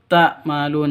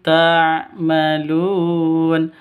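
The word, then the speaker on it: تَعْمَلُونَ: Bima kuntum takmalun. Salah. Bima kuntum tamalun juga salah. Yang betul. Bima kuntum tamalun. Tummalun. Mimnya jelas, tanya-nya juga jel jelas.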